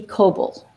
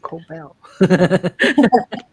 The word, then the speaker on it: Coble: And then the writer and creator of the whole Awkwardly series, comedic series, web series, is Nikki Coble. Nikki Coble. And they are both amazing directors and writers. Not Cobell.